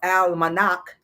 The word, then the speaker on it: almanac: right modern versions of the al manak that's how you really pronounce it right i actually looked